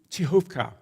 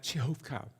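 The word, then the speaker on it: Przechówko: persecution they moved to chovka notice the spelling on the map p r z c h o w KO that's the indigenous that's local name pronounced something like chovka they moved there along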